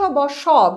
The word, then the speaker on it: বাস: আবার যদি হয় শব্দটা বাস, এখানেও দন্ত স কিন্তু আমরা উচ্চারণ করছি স, অর্থাৎ দন্ত স এর মতো, এবং রোমান লিপিতে যদি ধরি তাহলে হচ্ছে S।